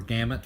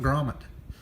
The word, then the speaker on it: gamut: the range of collars the collar comet or gamut what it however you want to say it I know that it's the range of collars I knew that but I mispronounced it and somebody called me out on it I really appreciate it because if you wouldn't have called me out on it I'd still be calling it Gromit but anyway also I